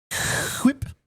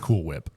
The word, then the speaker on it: Cool Whip: on on that one we must say it correctly quip yeah you can't say Cool Whip that doesn't that just doesn't sound cool whip uh Cool Whip is